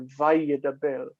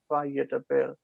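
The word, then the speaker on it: וַיְדַבֵּר: But we still pronounce it as if that as if that dagesh were there. Vayedaber. Vayedaber.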